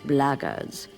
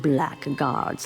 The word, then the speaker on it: blackguards: If you're another one of those blackguards, and that's the way to pronounce it, not blackguards like that thug insisted it was, then my answer is the same.